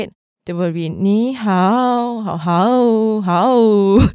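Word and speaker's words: 你好: So to say this very specifically and accurately is ni hao, hao.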